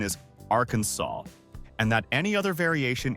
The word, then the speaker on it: Arkansas: senators, declares that the only acceptable pronunciation is Arkansas, and that any other variation is strictly forbidden.